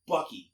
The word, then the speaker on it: Bucky: He's like he purposely mispronounced people's names like on purpose. Like, who's Buki? I'm like, it's Bucky.